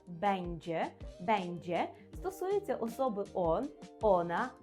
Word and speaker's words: będzie: Натомість форма бендже, повторюю за мною, бендже.